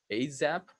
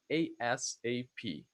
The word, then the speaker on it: ASAP: This one actually you can pronounce in two different ways. ASAP as a word with an S sound, ASAP, or letter by letter, ASAP.